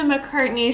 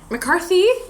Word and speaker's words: McCarthy: now Megan I will um I'm loving Melissa McCartney show McCarthy I always say her name wrong showing up on SNL as uh Sean